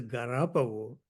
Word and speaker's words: Galapagos: We went to this brewery, which, according to Japanese pronunciation, is known as Garapago rather than Galapagos.